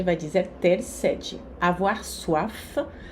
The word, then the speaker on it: soif: Avoir soif, aqui o F se pronuncia.